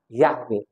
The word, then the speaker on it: Yahweh: tidak ganti juga ya tulisan asinya y w He ada t seanya di situ bacanya yahwe jadi dengar Israel itu